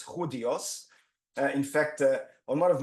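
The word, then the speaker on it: Judíos: For those of you who are not familiar with Spanish pronunciation, it's not Judios, it's Judios.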